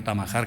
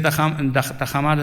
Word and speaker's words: Tajamar: desde el colegio Tajamar, que no Tamajar, que es más difícil decir Tamajar, igual que es más difícil decir Huidrobo que Huidobro, ¿eh? Y mucha gente pues baila a lo mejor alguna de las sílabas o la colocación de la R y nos resulta luego en castellano, en español nos resulta difícil pronunciar, ¿no?